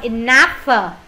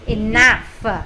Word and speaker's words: enough: âm chữ gh đó thường cái chữ gh các bạn sẽ phát âm là chữ f câu D la la